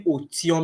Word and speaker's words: Otium: It's actually Otium. It's not difficult at all.